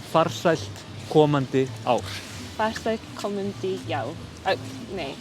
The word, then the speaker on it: ár: We often say it like that, and then you say farsælt komandi ár. Farsa komandi ár. Nei. Ár. Ár. It's like A with a dot and that's just au.